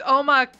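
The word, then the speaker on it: omakase: Makis is a it means uh like chef's choice or whatever because you were pronouncing it wrong. She keep saying that. Yeah, it's omac that means chef's choice.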